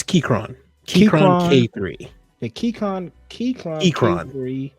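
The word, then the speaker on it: Keychron: up the Austin I don't know how to pronounce the name of this it's it's Kyron KRON K3 the Kyron Kyron yep Sleek compact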